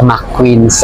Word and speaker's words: McQueens: pero yung it is mostly um it is pronounced as mcqueens Ando si may pasonangka k and pala mqueens